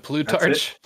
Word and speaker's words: Plutarch: we tried to pronounce this last time uh Plutarch was it Blue Torch yeah yes that's the proper pronunciation right so at least I got that